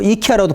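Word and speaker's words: IKEA: 자, 그러면은 이런 경우에 글로벌 전략을 보게 되면은 요 사이 우리 아이키아, 그죠? 이 발음은 뭐 이키아라도 발음하고 아이키아 뭐 다 자기 나라에 맞게 발음을 하는데 요새 아이키아 한국에 굉장히 논란이 되고 있잖아요.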